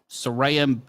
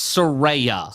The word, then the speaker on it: Saraya: known as page yeah sarayam got the second biggest pop of the night and it'll be a rare Soraya it's Soraya sorry per her Twitter yeah she explained how to pronounce it yes Saraya so listen uh does